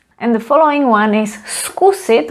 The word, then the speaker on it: zkusit: And the following one is skusit, where we pronounce it as s, skusit.